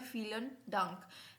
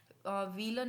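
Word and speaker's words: Vielen Dank: क्या बोल सकते हैं फिलन डंक वलन नहीं बोलेंगे फिलन बो बोलेंगे इसको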